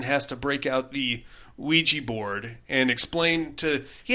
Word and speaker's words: Ouija: a little boy named david no and it's pronounced ouija and it comes from the german and french